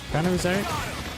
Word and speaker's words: Phanerozoic: and they did one called, what was it, Phanerozoic, I think it's called, Phanerozoic, it's pronounced, which is a two-parter again, spaced over